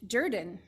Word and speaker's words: Jordan: I love this because you know how Jordan is spelled j-o-r-d-a-n but it is pronounced Durden and the Reverend Joseph